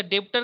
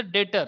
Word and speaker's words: debtor: अच्छा, डेप्टर कभी ना बोलिए सर, DEB है बट बी साइलेंट होता है, ओके? बहुत लोग ये गलती करते हैं, बचपन में समझ नहीं आता तो बहुत लोग बोल देते हैं DEB को बी को प्रोनाउंस कर लेते हैं, बट कभी प्रोनाउंस मत करना, ठीक है? DEBTOR, नॉट डेप्टर, इट्स अ डेटर, okay?